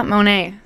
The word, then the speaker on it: Monet: in the building how are you hi I pronounced your name right correct yes you did well done yeah Monet yeah why did you start singing so you're